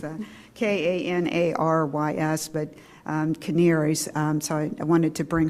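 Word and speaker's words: Kanarys: co-founder of what's called canaries and it's not spelled like you would think it was but it's a k-a-n-a-r-y-s but caneers so i wanted to bring her forward to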